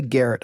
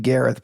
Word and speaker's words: Gareth: And I did not say Garrett. I said Gareth, but the H was silent. I didn't say Garrett. It's a super weird way to say my name with a silent A.